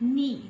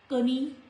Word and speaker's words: knee: The rule for letter K is usually silent when it comes before N. In the words like knee. This is not knee.